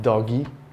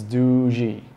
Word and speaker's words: Doogee: I'm just going to tell you how you pronounce the name it's not doggy it's not Doogie it's D a silent G just like in giraffe so it's DOI got it